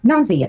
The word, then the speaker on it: Nonsy: originator of the word Nonsy is. They go by the name Who? Ill quit punk. Yeah. That is the originator of the name Nonsy. It is actually pronounced nons.